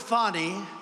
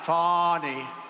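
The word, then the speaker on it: Fani: not legit they're Biden counts he worked with fonnie even though it's spelled Fanny f a n i fny how about that one how about that one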